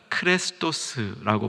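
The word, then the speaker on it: χρηστός: 헬라어로 이 친절하다, 인자하다라는 말은 크레스토스라고 발음합니다.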